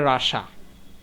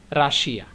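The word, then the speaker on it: Russia: এই রাশিয়া শব্দটাকে ইংরেজরা উচ্চারণ করে রাসা। কি উচ্চারণ করে? রাসা। কিন্তু আমরা বাঙালিরা করি যে রাশিয়া।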